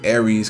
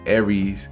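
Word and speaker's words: Ares: dividend stock this is aries commercial real estate i've been saying that wrong for a long time it's every commercial real estate i apologize for saying it wrong for so long it's aries commercial real estate and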